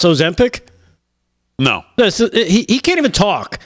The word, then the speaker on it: Ozempic: It's 3 syllables, Joe. Ozempic.